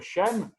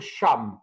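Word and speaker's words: שם: Et vous savez, Shem, on peut le prononcer différemment. On peut dire Shem, et ça veut dire le nom, mais on peut dire Sham aussi. Et les lettres ne bougent pas, il n'y a que la vocalisation.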